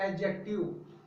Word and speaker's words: adjective: दोस्तों, लिखते हैं एडजेक्टिव, लेकिन अगर प्रोनाउंसिएशन के हिसाब से देखा जाए तो एडजेक्टिव पढ़ा जाता है। डी यहाँ पर लिखते हैं लेकिन पढ़ा नहीं जाएगा, तो इसलिए इसको एडजेक्टिव कहते हैं, जिसको हिंदी में विशेषण कहते हैं।